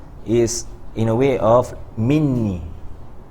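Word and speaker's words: مني: discussed why the lafaz or the way we pronounce from me, right, or it's been written, is in a way of minni, right?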